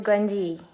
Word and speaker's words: Grungeee: And it's pronounced grungy, okay?